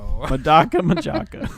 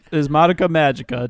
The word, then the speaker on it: Madoka Magica: The real name is Madoka Magica, just in case you want to search for it.